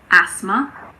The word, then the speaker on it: asthma: There's a silent H in there as well. It's asthma.